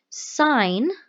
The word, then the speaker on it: sine: in the right triangle sine K pronounced si gh like a road sign okay don't call it sin although on your calculator